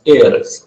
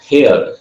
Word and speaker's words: heiress: The right pronunciation of this word is heiress, heir, not hair. Hair, ये hair नहीं है, heiress to Belmont.